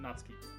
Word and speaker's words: Natsuki: How do you pronounce it? Natsuki.